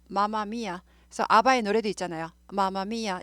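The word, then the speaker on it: Mamma Mia: mm 붙으면 m 하나 발음이 납니다. 마마미아. 그래서 아바의 노래도 있잖아요. 마마미아 이런 노래 있죠. 맘마미아 하지 않아요.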